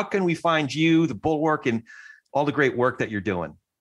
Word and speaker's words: Bulwark: people, it's funny, like people think it's Bulwark. Well, hopefully it's not bull. It certainly is work. But the Bulwark, for those who don't know, is spelled B-U-L-W-A-R-K. So one L and an A instead of an O, and it's all one word, the Bulwark.